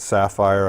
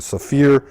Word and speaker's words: Saphir: but primarily I use a product called a Saphir some people pronounce that sapphire I believe it's correct pronunciation so fear this is a like a shoe cleaner a